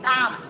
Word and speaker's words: calm: Calm. Keep calm. Calm. Something here. Keep calm. Okay. So calm. L is silent.